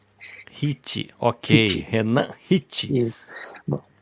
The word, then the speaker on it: Ricci: Esse R I CCI é italiano mesmo ou tô viajando na maionese. Exatamente. É Hit. Hit.